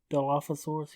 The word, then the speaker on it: Dilophosaurus: Now, is that a Dilapa this? Yeah, see, that's pronounced spitting ass bitch. How do you say it? Spitting. Dilophosaurus, yeah.